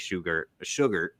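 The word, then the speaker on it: Shugart: I'm talking Chase Sugar. That's I always say his name wrong, but that's how you say it.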